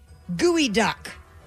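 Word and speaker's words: geoduck: We would like for you to spell the word gooey duck.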